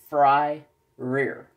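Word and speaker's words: Fryrear: You say it as Fry, like F-R-Y, Fry, and then R-E-A-R, Rear. Fry Rear.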